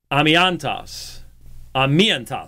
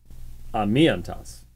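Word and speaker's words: ἀμίαντος: 13:4 is he koite amiantos, excuse me, amiantos. Put the emphasis on the wrong syllable.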